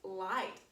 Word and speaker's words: light: right light i i light has a long i sound l i g h t light all right let's